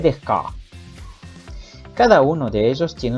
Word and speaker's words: Descartes: Baruch Spinoza es de Holanda y René Descartes de Francia. Entonces debería decirle René Descartes.